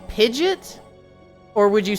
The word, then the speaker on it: Pidgeot: Why would you not take that same pronunciation into the third form? Pidgeot. Pidgeot. Um, and I was like, no, it's Pidgeot.